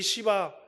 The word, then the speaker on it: 시바: 하면은 시바를 만납니다 여러분 우리 시바 발음을 잘해야 돼요 너무 쉬게 하면 큰일 하게 되지이 시바를 만나서 야 시바야